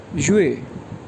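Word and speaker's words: 月: इसके बाद मंथ है, मंथ को चाइनीज़ में कहते हैं YUE फोर टोन के साथ, ये प्रोनाउंस होगा युए, युए, युए।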